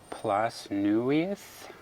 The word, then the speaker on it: Plas Newydd: She told me how to pronounce it. Newydd. Plas Newydd.